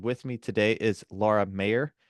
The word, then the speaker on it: Maher: And with me today is Laura Mayor, spelled Maher.